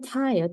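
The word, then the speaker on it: ت: 네, 이거는 이름이 타예요. 타. 그래서 우리나라 말로 치면은 티귿이 되고요. 그리고 우리나라 영어로 치면은 영어로 티가 되겠죠. 이것도 발음이 어렵지 않아요. 우리가 아는 발음이에요.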